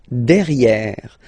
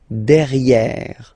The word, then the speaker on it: derrière: So if you look carefully, you've got E here and then double R, so it will open the sound of this E, and you should pronounce it E, okay? Derrière. Same thing here, you've got this E accent grave, E. Derrière, okay? Don't pronounce the final E.